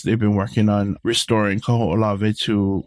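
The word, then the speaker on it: Kahoʻolawe: The longest one is probably the hardest one to pronounce is Kaho'olave. Kaho'olave. Kaho'olave. Yeah, and I hear so many weird pronunciations of this. Kahulave, yeah. Ku'ulavi, So Kaho'olave.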